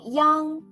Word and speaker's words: yang: let's learn the final Yang together in this class when you pronounce the final Yang make the e sound then quickly slide to the Ang Yang when Yang becomes a